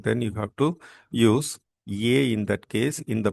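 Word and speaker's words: へ: Ye is pronounced as ye as in elephant. In elephant, how we pronounced e?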